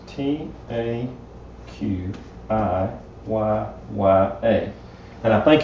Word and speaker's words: taqiyya: It's T-A-Q-I-Y-Y-A. And I think it's pronounced taqiyya.